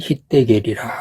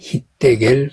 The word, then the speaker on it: 힛데겔: 셋째 강의 이름은 히데겔이라. 아수르 동쪽으로 흘렀으며 넷째 강은 유브라데더라. 에덴을 흐르는 강 중에 세 번째 강이 히데겔 강입니다. 히데겔은 티그리스의 히브리어 발음입니다.